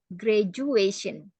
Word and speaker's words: graduation: ya graduationnya benar tapi tulisannya kan graduation pakai D cara membacanya pakai j graduation ya sama seperti education